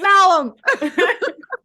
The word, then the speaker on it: Malum: It's Malum.